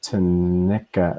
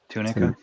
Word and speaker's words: tunica: corporal tissue with attached to nica that's not how you say that tanisha to nica how would you pronounce that there john tunica yeah with attached tennika will